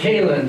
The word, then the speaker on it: Cahlan: Sorry, it's actually pronounced Cahlan, sorry. That's okay. I just had somebody literally, like yesterday, call me Cahlan. It's happened my entire life. It will continue happening for my entire life, so I do not take any offense whatsoever to mispronunciations of my name, especially because it's spelled not at all how you would expect.